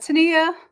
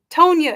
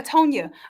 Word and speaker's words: Tonya: And was it Tania? Am I saying it right? Because I said I was going to get it right and keep it right. Tonya. Yeah, Tonya. Okay.